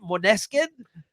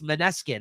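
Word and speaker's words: Måneskin: stuck that shut up how do you say it monin yeah monin no it's maneskin isn't it maneskin yeah maneskin that's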